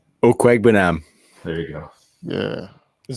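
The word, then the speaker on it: Okwuegbunam: Do you know how to pronounce his last name? Okwegbenam.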